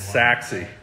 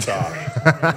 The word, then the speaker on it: Sachse: Ryan I'm also Ryan it's sassy not sorry thanks brother I love